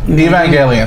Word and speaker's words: Evangelion: The Evangelicon or whatever the fuck? I can't even pronounce the anime stuff? Yeah. Huh. Evangelion? Evangelion, there you go.